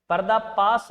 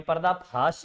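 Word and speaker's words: पर्दाफ़ाश: यह पर्दा पास नहीं है। यह पर्दा फाश है।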